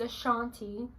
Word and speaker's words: Ashanti: It's Ashanti. That's how you pronounce it, Ashanti.